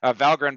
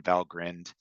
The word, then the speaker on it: Valgrind: So it's kind of got this Viking Norse pronunciation, Valgrind. You could be forgiven for calling it Valgrind, but I personally have been corrected by those in the know.